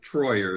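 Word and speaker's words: Treuer: morning and it's david i pronounce it troyer it's t-r-e-u-e-r uh t-r-e-u-e-r that david troyer is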